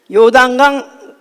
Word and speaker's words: 요단강: 유당 강 부담 강 발음을 잘 해야 되요 왕이 아니야 이제 예 요단강 어 양편에 다가 어